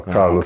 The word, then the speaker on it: Carlos: Is it Carlos? No, Carlos.